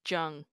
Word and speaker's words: Jung: Yeah, So. there's Jung, like CG Jung, like the psychoanalyst. He's Swiss German. And then Swiss it's, German. yeah, and then Jung, which is a Korean last name. Sometimes they'll spell it Chung and pronounce it Chung, but it's Yeah. pronounced Jung, Jung.